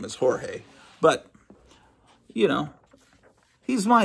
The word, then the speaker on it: Jorge: everybody in elementary school and say actually it's pronounced hor he no he's just going to say hey just